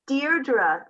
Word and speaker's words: Deirdre: It's pronounced Deirdre.